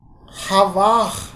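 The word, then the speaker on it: חוה: Havah. At the end, ha is there, but it is silent.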